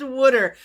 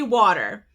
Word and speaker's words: water: It's pronounced wooder. Okay, so I say water, but Terri is from the Philadelphia area, Philadelphia, Pennsylvania. And in the Philadelphia area, they say wooder.